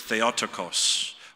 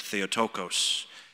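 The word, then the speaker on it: Θεοτόκος: And in Greek, the word is theotokos, or sometimes you'll hear it said theotokos. The pronunciation doesn't matter.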